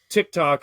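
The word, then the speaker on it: Tik-Tok: app but uh and it's spelled the same way t-i-k -t-o-k but with a hyphen in the case of the novel so Tick Tock is a robot that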